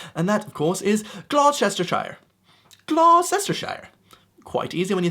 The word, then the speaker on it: Gloucestershire: And that, of course, is Gloucestershire.